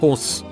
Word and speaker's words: Hoare: I had a gym teacher and I'm not lying, but his name was Mr. Hoare. Pronounced horse.